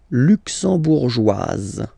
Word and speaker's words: luxembourgeoise: Le Luxembourg, luxembourgeois, luxembourgeois, and then feminine form, luxembourgeoise. Okay, same thing here, only difference, joie, joie, joise, z, z. Okay, you insist on it.